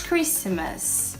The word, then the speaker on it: Christmas: E aí of bullets realmente não é Christmas esqueçam de p eu falava bem suave Christmas mas ainda assim não a gente não vai pronunciar Christmas Christmas sem o ter mesmo outro verbo que